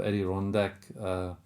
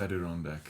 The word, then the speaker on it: Adirondack: So I'm a huge fan of Adirondack spruce. And I don't pronounce that right. Someone said it the other day. I wasn't sure what he was talking about. It's Adirondack. Is it?